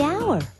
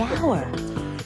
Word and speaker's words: hour: owner the animal the hour way h is not a vowel sound it's a consonant sound but it's not the first sound the h is silent the hour but what about the